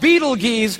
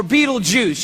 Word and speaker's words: Betelgeuse: heard about this star it's called beetle geez or Betelgeuse you can pick your pronunciation I'm obviously going with Beetlejuice and Betelgeuse is incredible